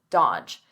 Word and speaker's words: dodge: Notice here, the D is silent, the middle D, dodge, dodge.